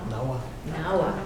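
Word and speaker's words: Nahua: Votan is a Native American street artist from Los Angeles who is of Mayan and, how do you say that? Nawa, thank you.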